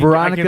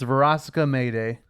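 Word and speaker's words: Verosika Mayday: I can Veronica is incorrect.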